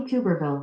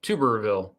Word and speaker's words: Tuberville: be embarrassing embarrassing tommy cooperville it's two tuberville like a tuba tuberville tommy tuberville okay then all right make sure we get that right all right so let's call senator tuberville from representing the great